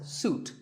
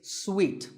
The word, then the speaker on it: suite: rooms in a hotel and this is wrongly pronounced by many people as suit but it's sweet like when you eat